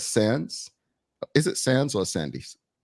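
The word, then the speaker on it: Sandys: Sands, right? I said it right.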